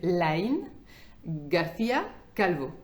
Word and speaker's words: Lain García Calvo: Donc, il s'appelle Lain García Calvo. Ok. Bien sûr, je vous prononce en espagnol.